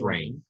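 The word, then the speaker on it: Rahne: I guess that you wolves Bane's name is reine Sinclair it's not necessarily spell rain but it's pronounced it's rain I know good luck miss Williams it's I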